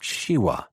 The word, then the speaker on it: Shiva: preserver shiwa the Destroyer he pronounced Shiva as all balones did so that it sounded like shiwa he hesitated a moment